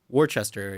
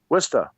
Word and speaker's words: Worcester: cuz you're in love Worchester here right Worcester with a twister area yep welcome to